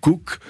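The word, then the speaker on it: Kook: préparé par le fameux Rabin Cook qui était le premier grand Rabin de Palestine dans les années 30 comme comme James Cook oui ça s'écrit de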